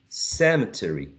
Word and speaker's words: cemetery: spelling is like that some people would say Cemetery Cemetery Cemetery or may use only three syllables how do you say this word using only three syllables is that possible so cety can be shortened in one syllable or one uh short can be elided so one syllable remember that a vowel sound is the nucleus of a syllable so if we get